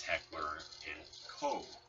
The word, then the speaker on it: Heckler & Koch: And currently, the people who do own the Spectre is Heckler & Co., which Heckler & Co. is the correct pronunciation.